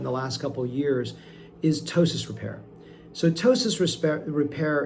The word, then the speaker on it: ptosis: last couple years is tossis repair. Sotosis resp repair is spelled with a silent p. P t o s i s.